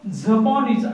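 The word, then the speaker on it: xaponés: बोलने के लिए Galician word है फलवा, और जापानी को जपोनिस ऐसा उसे प्रोनाउंस किया जाता है.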